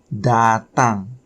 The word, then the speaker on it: datang: The fifth one is datang. Datang. Datang. Datang is spelled D-A-T-A-N-G.